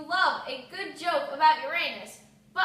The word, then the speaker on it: Uranus: God knows you love a good joke about Uranus, but our generation pronounces it Uranus.